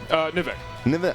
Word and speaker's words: Nivek: I'm not sure how you pronounce it. Nivek. Nivek? Yeah. Okay, Nivek.